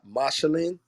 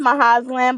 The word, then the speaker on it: Mahazlan: Mashalin. It's Mahazlan, but you can call me Maha. Okay, Mahaslin.